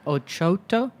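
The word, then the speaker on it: Ochota Barrels: I do I do there's one that's called ooto but actually o barrels yes yes o c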